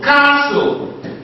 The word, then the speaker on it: castle: like toy once again you may have words where you have letter T and the t is not what is not pronounced for instance when you have like um when you like castle castle even though you have